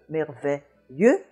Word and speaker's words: merveilleux: We've looked at this combination before, the S between two vowels sounding like a Z, and the EU in front of a Z sounding like E. So in both cases, you have that vowel E, merveilleux and merveilleuse.